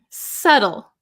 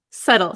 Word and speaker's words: subtle: bit difficult to explain subtle subtle silent B so delicate or precise